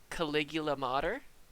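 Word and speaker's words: Claugiyliamatar: a am a t-a-r and the way i'm pronouncing that is caligula mater i'm sure if we broke that down but that is the easiest way for me to pronounce that more commonly known as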